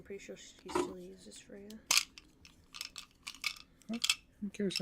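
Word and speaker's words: Freyja: Is that spelled F-R-E-Y-G-A? No. Because if it was, that's pronounced Freya, and I was about to slap you over the head for getting a Greek god's name wrong.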